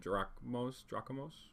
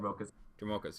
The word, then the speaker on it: Dromoka: You had one, the green-white command, Drachmos? I can't pronounce that. Dromokas, yes, Dromokas command.